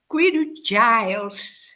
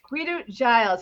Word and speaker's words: Kouidou-Giles: Koudiou-Giles. Koudiou-Giles. I have to say it properly because that is the proper Greek.